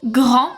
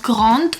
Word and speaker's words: grand: And we also have silent consonants with S, T, D, P, X, and Z. So if you have words ending with those consonants, you're not going to pronounce it either. For example, gris and not grise, chat and not chat, grand and not grande, loup and not loup, prix